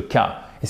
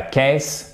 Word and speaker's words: case: Une affaire policière, mais c'est aussi le cas. Et c'est pas case, c'est case.